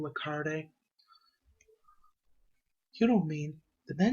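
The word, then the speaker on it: Lecarde: heard its name was that's how you pronounce his last name le carde you don't mean the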